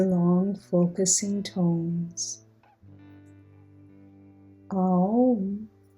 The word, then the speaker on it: Aum: Aum is the Sanskrit pronunciation of Om and is the universal sound or hymn of the universe.